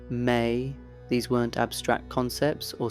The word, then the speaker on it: me: Consider the mysterious objects the Sumerianss called me, pronounced may.